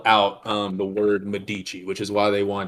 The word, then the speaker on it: Medici: I'm sorry, the Meduche family. Excuse me. That is a delineation. I'm using a very strict Latin pronunciation here.